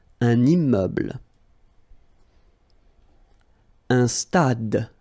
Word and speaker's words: stade: Un stade. Same thing here. Final is not pronounced. Un stade.